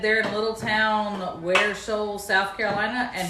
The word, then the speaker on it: Ware Shoals: They said they're in a little town, Ware Shoals, South Carolina, and he said you pronounced it correctly.